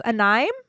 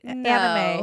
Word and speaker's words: anime: but uh onim and they was say anim I was like anime he goes He serious